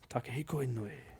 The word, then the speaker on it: Takehiko Inoue: Takehiko Inoue.